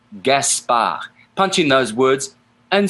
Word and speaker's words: Gaspard: pick P I see Gaspard Gaspard ends with a D but it's not pronounced in French gasp ah punching those words